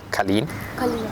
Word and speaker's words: Kalin: you want that's my first name and Colleen is my yeah that's my first name and my second name is my family name is Colleen yeah it's like Nepali names for me are